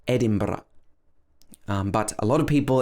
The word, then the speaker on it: Edinburgh: well so it's actually edinburgh ed din bruh so it's actually bro at the end and then the schwa it's not edinburgh edinburgh or anything like that it should be edinburgh or you can pronounce